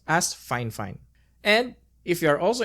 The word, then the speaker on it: FIFINE: heard some people say it's called fine or fif fine but apparently the company name is pronounced as fine fine and if you are also interested actually our